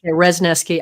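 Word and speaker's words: Wrzesniewski: I want to say her name is Rnooki. Is that the right word? Resneski. You're very close. Resneski.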